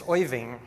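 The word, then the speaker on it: Øjvind: One is, I don't know if you've ever heard how to pronounce Winge's first name. It's Oiving.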